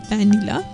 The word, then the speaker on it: vanilla: vanilla ice cream so notice how I pronounced vanilla right I bit my lower lip and I hope the sound is clear to you it's a vanilla so o r o